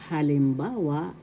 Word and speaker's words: halimbawa: In Tagalog, halimbawa ng panitikan. First syllable ha, second syllable lim, third syllable ba, fourth syllable wa. Halimbawa, halimbawa. The accent is in the third syllable.